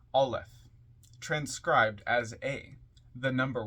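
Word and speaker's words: aleph: you who don't know a l e p pronounced alth transcribed as a the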